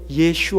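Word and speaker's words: ישוע: 것은 탈라 식 바람이고 원래 히브리 식으로는 예 슈 합니다 예수와 를 했나 발음으로 한 것이 예수가 된 것입니다 예수 혹은 예수와 의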